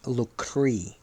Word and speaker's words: Locris: could be personal footnote pronounced as lre as well spelled l o c r i s meanwhile civil Discord broke